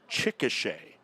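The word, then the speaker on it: Chickasha: I have confirmation on the pronounce pronunciation of the town that University of Science and Arts Oklahoma is located and that is Chicochet notic run and one earned run in his professional debut.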